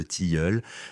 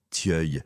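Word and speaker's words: tilleul: mène à un couvert de tiul, mot que madame Vauquer, quoique né de Conflanc, prononce obstinément Tœuil malgré les observations grammaticales de ces hôtes.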